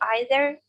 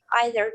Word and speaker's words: either: And also, don't forget that you can pronounce it like either, neither, or either, neither, if you want to. There is no difference right now, at the moment, between American and British pronunciation for these two words.